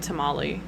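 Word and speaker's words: tamalli: from the na tamali so actually the origin for Tamales kind of sounds like how a lot of American English speakers would naturally pronounce it like my dad for instance would pronounce it tamali and that's actually closer to the original pronunciation very accidentally but it is tamali and then the Spanish kind of bastardized it into Spanish words and gave it a Spanish pronunciation the singular word is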